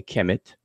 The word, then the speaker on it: Kemet: And so I'm defining this toponym as, I'm transliterating as KMT, and I'm giving the Egyptological spelling and pronunciation how we do it today, Kemet.